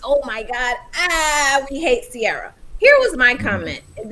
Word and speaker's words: Ciara: Ciara, yeah.